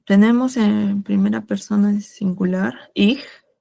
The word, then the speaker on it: ich: Ya, tenemos en primera persona singular, ich, Ich es con una J suave. Ich.